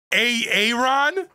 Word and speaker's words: Aaron: you say it the first time i said a-a-ron because it's pronounced aaron you dumb messed up hey ron